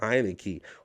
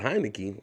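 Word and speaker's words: Heinicke: and i said taylor heineken you know i was able to remember his name because it rhymes with heineken but taylor heineke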